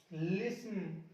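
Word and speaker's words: listen: अगला देखिए EN से पहले, देखो ये रहा आपका EN, इससे पहले आ गया टी, साइलेंट कर दो, ऑफन, लिसन, शॉफन, हैसन, फासन।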